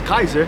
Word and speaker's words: Caesar: They probably had a shadow government running there, and they told Julius Caesar or Julius Kaiser, to pronounce it correctly, Julius Kaiser, to take over, and he was being controlled all that time.